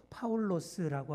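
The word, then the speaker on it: Παῦλος: 되는 그런 본문이기 때문입니다 바울 정확한 헬로우 발음으로 파울로스라고 하는 그 바울로 불리게 됩니다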